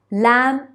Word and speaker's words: lamb: words listen and castle b in the words lamb and climb and gh in the